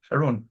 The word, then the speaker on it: Jeroen: Jeroen. Yeah, you can pronounce it any way you like, but it is officially called Jeroen.